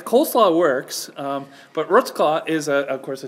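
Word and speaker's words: Wrocław: the the real name is of course the rot claw rot claw that's very good that's better than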